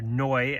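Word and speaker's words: Neu!: So number 5 is Neu, or Neu as they're actually pronounced in German, Neu 75.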